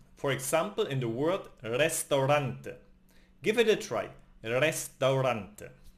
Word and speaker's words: restaurante: And finally the R is rolled. For example in the word restaurante.